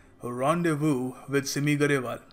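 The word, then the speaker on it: rendezvous: with Simi Garewal तो पहली बात तो इसकी जो प्रोनंसिएशन है वो समझ लो के यहां पर जो एस है इसको हम प्रोनाउंस नहीं करते साइलेंट है तो हम इसको कहेंगे रोंडे वू रडे वू ऑलराइट तो यह पहरी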